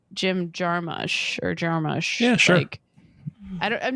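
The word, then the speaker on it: Jarmusch: exactly so yeah this just was unabashedly Jim jarmouche with the dialogue and the weird pauses and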